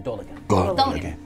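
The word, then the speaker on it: Dolagen: But it's pronounced quickly, Dolagan.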